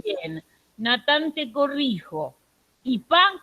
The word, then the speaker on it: kipá: Kipá con tilde en la A.